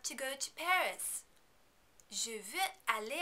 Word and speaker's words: veux: Please remember, you're not going to pronounce any of these final consonants because they are not followed by a vowel sound. Je veux, tu veux, il veut, elle veut, on veut.